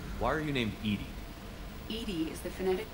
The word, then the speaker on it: EDI: a vacuum space why are you named Edie Edie is the phonetic pronunciation of EDI that is an acronym for